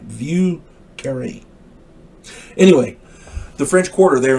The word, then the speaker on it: Vieux Carré: And if you do visit there, don't you dare miss out on the Vieux Carré. Vieux Carré. Vieuxcarre. I hope I'm saying that right. Vieux Carré.